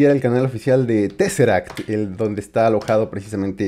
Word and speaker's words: TesseracT: este una disculpa porque estoy acostumbrado a toda la vida a verlo pronunciado teaser y hasta apenas me doy cuenta que no es la pronunciación correcta Bueno pues te será que decía este la